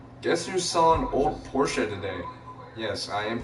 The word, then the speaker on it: Porsche: It is pronounced Porsche, not Porsche. I mean, some people say Porsche, but the actual pronunciation, according to Germany, because it is a German-made vehicle, is Porsche.